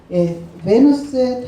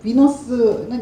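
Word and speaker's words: Venus: 베누스의 탄생. 비너스는 영어식 발음이고 베누스라고 하고요.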